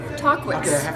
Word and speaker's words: Tahquitz: Tahquitz.